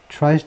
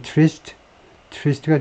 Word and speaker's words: tryst: Trump, tryst 또는 trist가 좀 더 일반적인 발음이겠네요.